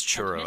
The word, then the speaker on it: Turo: and was that the professor turo is pronounced as churro at first like churro the Giga chat you'll